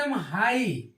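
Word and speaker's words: high: जीी एच इसको पढ़ते हाई हाई पढ़ते हाई जी एच का क्या है उच्चारण गायब हो गया ऐसे ए आई जीटी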